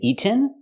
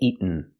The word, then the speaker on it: eaten: In America, you can say eaten, but normally we don't. We say eaten. Make the stop T and go to the end directly.